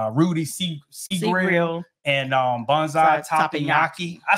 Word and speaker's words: Teppanyaki: And they were Rudy Sea Grill and Banzai Teppanyaki.